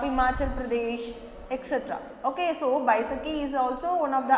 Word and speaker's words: Baisakhi: Pronounce it Baisakhi.